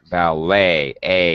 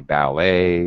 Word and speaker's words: ballet: Ballet. It sounds like an A-Y ending. The T is, it's very weird. It's an E-T ending in English when we write it. But when we pronounce it, it's A.